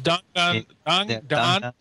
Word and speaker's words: Danganronpa: People are pronouncing the name of that. They will. It's Danganronpa.